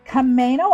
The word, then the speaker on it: Camano: Kamo Island and it's spelled like the car Kamo.